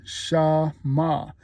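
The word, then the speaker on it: שמע: Don't get it mixed up with shamal, but it's shamah.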